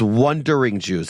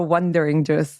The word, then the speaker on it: Wondering Jews: or wondering juw it's wondering Jews everyone I'm just nervous when I'm pronouncing it does it sound like I'm saying wondering ju or wondering juice no you're doing great it's wondering Jews at Jewish un .c